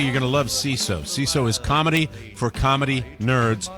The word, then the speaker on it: Seeso: CISO is comedy for comedy nerds by comedy nerds. CISO, it's spelled SEESO.